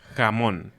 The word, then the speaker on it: jamón: Como ham, pero realmente es un poquito más rasposa, podríamos decir. Más presente, el sonido está más presente. Por ejemplo, diríamos jamón. Sí. Jamón, ¿no? Y hemos escuchado a muchos de ustedes, estudiantes, que dicen como jamón. Jamón. Ajá, exacto. Como mucho aire. Exactamente, como un suspiro. Sí. Y realmente nuestra J es bastante fuerte.